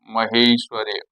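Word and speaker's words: महैश्वर्य: महेश्वर्य उच्चारण में होगा महेश्वर्य। यहाँ पर दो मात्राएं लग गई है, आ और ए के मेल से हमने देखा।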